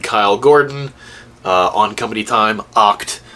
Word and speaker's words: OCT: Bravo, OCT and Kyle Gordon on Company Time, Oct. I heard Luke actually pronounce it as Oct, so I don't know why I keep saying OCT.